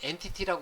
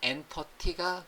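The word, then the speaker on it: entity: 보면 한글화된 번역은 이제요요에 엔터티란 단어는 마이크로소프트에서는 엔터티가 기본입니다 그래서 이제 많은 분들이 어떤 이제 엔티티 이제 발하는데요 마이크로소프트 쪽에서 는 엔터티가 기본 발음이라 거 주의를 해 주시고요 엔터티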